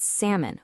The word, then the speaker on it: salmon: We've got salmon, where the L is totally silent, subtle, where the B just vanishes, and debris without the S sound.